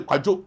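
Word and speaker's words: Kwadwo: Yeah, so that way Kwajo. So they made it Kujo because Kujo. of the every pronunciation.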